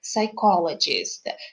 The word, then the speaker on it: psychologist: the help of a psychologist have you noticed that the letter p in this word the is silent i suggest practicing the